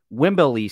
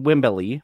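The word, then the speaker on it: Wembley: Tag Team titles at Wimberley Stadium yes I will always call it wimbelly because of the way Hulk Hogan pronounced it uh in front of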